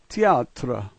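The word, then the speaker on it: театр: The T is like T, the second letter is yeah, A is like A, T is like T, and the P is an R sound. That's er. This word is teatra, teatra.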